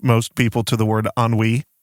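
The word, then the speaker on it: ennui: and the question is all the different ways we probably pronounced it as kids I remember being corrected on it so it made a really big impression on me by my friend's dad cuz we thought it was an anui I think and this sounds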